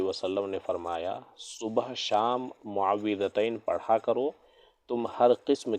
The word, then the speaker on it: معوذتین: کے آگے ہے معوذتین، معوذتین، اس کا صحیح تلفظ کیا ہے؟ معوذتین۔ کسے کہتے ہیں؟ سورہ فلق اور سورہ ناس کو معوذتین کہا جاتا ہے۔ تو اس سورہ کے تعلق